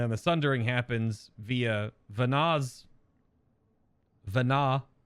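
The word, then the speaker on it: Venat: the sundering happens via vanaz Vana it's hard to put a possessive on Vana when the t is silent right so that's that's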